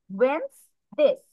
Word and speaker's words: Wednesdays: ডিটা বাদ দিবে, ডি বাদ দিয়ে প্রোনাউন্স করবে। Wednesdays.